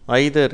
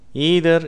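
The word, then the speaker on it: either: effect எபிசியன்ட் ஐதர் ஈதர் ஆங்கிலேயர்கள் இதே வார்த்தையை ஐதர் என்று உச்சரிக்கிறார்கள் அமெரிக்கர்கள் இந்த வார்த்தையை ஈதர் என்று உச்சரிக்கிறார்கள் நைதர் நீதர் எனர்ஜி என்ஜினியர்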